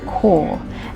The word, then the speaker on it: Chur: We are going to a town called Core. It's pronounced core, but it looks like Chur, so we've been calling it Chur, but that's wrong.